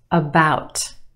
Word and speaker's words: about: some of these words about about okay we have two syllables in that word the second syllable is emphasized or stressed the ow sound is stretched about the first syllable is your schwa about about it's not about it's about about that let's talk about